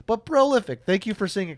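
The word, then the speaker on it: Prolyfyck: okay but uh prolific it is not spelled like prolific if you're wondering it's p r o l y f y c k so that's why I said it that way but prolific thank you for seeing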